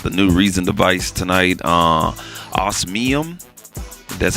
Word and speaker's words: Osmium: Osmium. That's how you say it, Osmium.